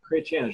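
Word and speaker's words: Chrétien: I noticed there was a liberal Prime Minister, Chretien, is that how you say it? Chretien, Jean Chretien.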